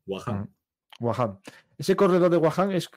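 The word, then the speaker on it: Wakhan: Como si fuese una J. La H se pronuncia como una J. Wahan.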